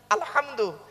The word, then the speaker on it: আলহামদু: আলহামদু এই গলার ভেতর থেকে এটা উচ্চারণ করবেন।